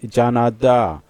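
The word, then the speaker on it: 加拿大: Then we have Brazil as Bashi, America is me, Canada is Janada. Then uh so many other countries have the way of pronounces pronouncing their name their country name in China.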